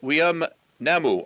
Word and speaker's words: Weam Namou: Her name is Weam Namou. I hope that I'm pronouncing your name correctly. Yes, you are.